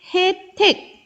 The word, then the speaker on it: 혜택: 애로 발음하셔도 상관없습니다. 예를 들어서 혜택.